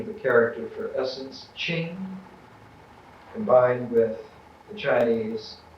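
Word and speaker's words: 精: The Chinese pronunciation of the character for essence, Ching, combined with the Chinese pronunciation of the character for real, Chen, Ching, Chen.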